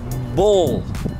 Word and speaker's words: ball: Esa escena que describí antes, de pronto no me gustó mucho como sonó la palabra ball. No la pronuncié esa L como tenía que sonar en inglés.